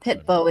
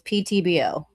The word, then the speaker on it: PTBO: It's not pitbo. It's ptbo.